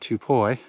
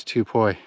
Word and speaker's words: Tubuai: Actually says the name of the island, Tupoi. And notice the spelling here. It's actually spelled with a P, not a B like we're used to seeing.